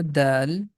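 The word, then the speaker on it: دال: The first one here, that's letter Dal, and here with one dot, that's letter Dhal.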